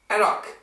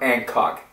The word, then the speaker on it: anCnoc: anyways there it is Hancock and anak not Hancock and knock we do not pronounce the sea anak so let's get right